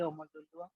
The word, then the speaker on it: Omololu: Let's go to Omolu Tabo. Go ahead. Okay. Omolu? Omolu. Yeah. I pronounced your name probably wrong. My apology. Yes, this is Omololu from Nigeria.